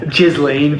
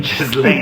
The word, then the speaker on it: Ghislaine: You pronounce her name incorrectly. Elaine. Ghislaine. Ghislaine.